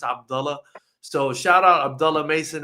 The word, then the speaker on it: Abdullah: And it's not pronounced Abdullah. That's a goofy pronunciation. It's Abdullah.